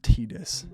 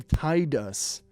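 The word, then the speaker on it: Tidus: why the is his name pronounced tdis that's the dumbest i've ever heard i hate that it's like a game all about water so why isn't his name tied us this game but i really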